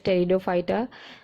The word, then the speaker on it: Pteridophyta: It is written with P, but P is silent, so we read it as Pteridophyta.